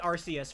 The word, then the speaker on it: Arceus: Arceus has had 2 different pronunciations. Because it used to be Arceus for the longest time, but then they changed it with Legends Arceus.